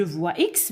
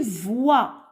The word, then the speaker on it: voix: ne se prononcent pas je voi x mais ne se prononce pas ne se lit pas une voix une voix j'entends par 60 60